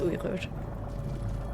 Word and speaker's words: Uyghur: Uy. This is a Qain sound. Guttural G sound. Uyghur. Yeah, I have no doubts. Yeah, I have no doubts because this is a long U sound as well.